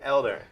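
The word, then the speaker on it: Helder: So you actually spell it with an H, but it's Without an H, it's a silent H. it's a silent Yeah, H. it's a Portuguese name. Yeah, so Yeah. we say Elder.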